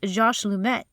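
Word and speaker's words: Georges Lemaître: really gets any recognition it was pronounced Josh lumet but it's spelled g-e-o-r-g-e-s-l-e-m-a-i-t-r-e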